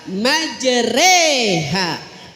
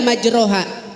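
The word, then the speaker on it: مجريها: Saya kasih contoh, mana yang dibaca E? Yang dibaca E adalah majreha. Boleh nggak majroha? Tidak boleh. Bacanya harus tetap majreha.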